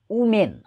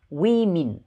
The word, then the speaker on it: women: त्यसै गरी छ WOMEN यसको उच्चारण उमेन गर्ने गरेका छन्, उमेन तर यसको करेक्ट प्रोनन्सिएसन हो वी मिन वी मिन वी मिन वी मिन महिलाहरू.